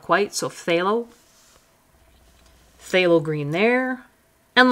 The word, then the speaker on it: phthalo: So phthalo, phthalo green there. And lots of people just forget about the pH altogether and just call it phthalo, which is fine too.